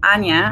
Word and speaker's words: Anja: like a and J a is spelled Anya and that's alpha or